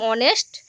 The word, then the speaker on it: honest: So here it will be, sir, I am a very poor man and I am an honest man, because honest H remains silent.